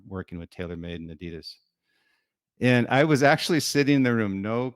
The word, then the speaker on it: Adidas: way I'm very proud of you for actually pronouncing Adidas the way it should be pronounced not Adidas I was actually a quick story on that